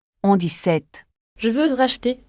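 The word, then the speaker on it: sept: Non, le P est muet. On dit 7.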